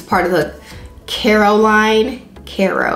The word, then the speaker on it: Caro: of the Carol line Caro I feel like I'm saying it wrong like I'm saying Caroll with an L but it's Caro Caro the c a r